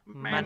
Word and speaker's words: Manon: You gotta say it all French, like how Fairuza Balk says in this movie. It's like Manon. Manon.